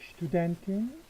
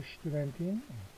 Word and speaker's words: Studentin: Bist du Studentin? Bist du Studentin? 강하게 발음해야 됩니다. 스투 하면 안 되죠? 슈투입니다. 슈투.